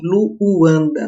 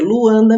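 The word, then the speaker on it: Luuanda: Nunca falem Luanda, não é assim que se pronuncia, Luanda mesmo.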